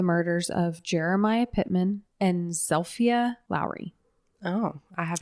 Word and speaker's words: Zilpha: story of the murders of Jeremiah Pitman and zelia Lowry oh I have not heard those names so her name is spelled like Zila but her family pronounced it zelia okay so that's how I'm going to pronounce